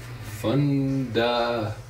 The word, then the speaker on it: Fundador: Fundador. The one I had before was like double the size. Fundador.